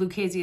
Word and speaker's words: Lucchese: And Lucchese is spelled L-U-C-H-E-S-E, like the crime family in New York, but different.